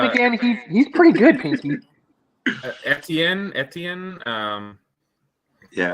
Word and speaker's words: Etienne: Etienne. Yeah. I know I'm saying it wrong on purpose. ETN.